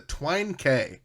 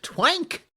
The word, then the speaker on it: Twine K: name gets is the Twine K. Now, some people may see that and think it says twank, but it doesn't. That's right. The K is pronounced K. It's a play on 5K.